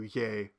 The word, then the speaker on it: ye: and you uh that yay is sometimes spelled with a Yi or sometimes with a yog but in any case it's pronounced pretty close to yay no matter how it is spelled now in proto-indo-european the